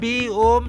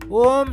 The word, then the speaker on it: ओम: जिसे ब्रह्मांड कहते हैं ओम शब्द इस दुनिया में किसी ना किसी रूप में सभी संस्कृतियों का प्रमुख भाग है ओम शब्द आ उ मा अक्षर से मिलकर बना है ओम के उच्चारण